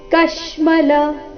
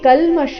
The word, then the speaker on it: ಕಶ್ಮಲ: ಪೂರ್ತಿವ ಕುತಸ್ತ್ವ ಕುತಸ್ತ್ವ ಕಶ್ಮಲಮಿದೌ ಕಶ್ಮಲ ಕ ಮೇಲೆ ಆಘಾತ ಇಲ್ಲಿ ಕಲ್ಮಶ ಇಲ್ಲ ಏನಿದೆ ಕಶ್ಮಲ ಅಂತ ಇದೆ ಕಶ್ಮಲಮಿದವ್ ಅನುಸ್ವಾರದ ಉಚ್ಚಾರಣೆ ನಾಸಿಕ